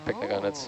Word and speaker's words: pycnogonids: Yeah, pycnogonids.